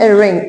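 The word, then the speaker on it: wring: धोना कुछ भी धोना एंड रिंग इसमें डब्ल्यू साइलेंट है रिंग मीन्स निचोड़ना तो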